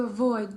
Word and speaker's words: avoid: avoid란 발음도요. 여러분들 나중에 이제 들어보시면 알겠지만 이게 앞에 있는 단어와 연결될 때는요. 마치 뭐처럼 들리냐면요. boy처럼 들려요. boy. 그렇죠? 이게 없어지면서 얘도 없어지니까 void, void 이런 식으로 들려요.